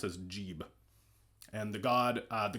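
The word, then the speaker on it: Geb: English as an aside we don't know that it was actually pronounced geeb or gab or anything like that because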